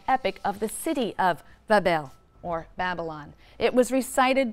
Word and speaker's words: Babylon: magnificent shrine or temple in Babylon, pronounced Bab-el, which simply means gateway of the god, the gate of the god.